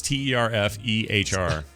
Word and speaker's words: Turfer: It's Terfehr. It looks like it would sound the same backwards and forwards.